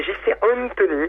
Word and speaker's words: JCAntonny: Mais par contre, c'est JC Antoni. En fait, on peut la prononcer un peu à l'italienne.